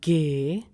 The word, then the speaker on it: G: G is pronounced as Gay. Gay.